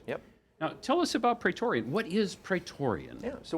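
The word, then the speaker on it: Praetorian: Hammond uh both of these gentlemen are from pretorian did I pronounce that correctly that is correct yep now tell us about petorian what is petorian yeah so we're an offensive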